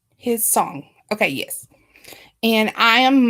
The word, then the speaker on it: Hissong: different ones say it different ways when it's spelled with a TH. Okay, and it's Hissong. I want to get it right. Hissong.